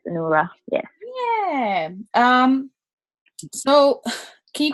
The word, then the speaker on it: Onuora: Is that how you say your last name, Onuara? That is correct. It's Onuora.